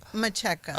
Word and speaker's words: Macheka: And the last name, just give me the correct pronunciation. Let me make sure I have it well. Macheka.